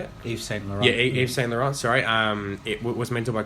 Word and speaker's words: Yves Saint Laurent: Yeah, Yves Saint Laurent.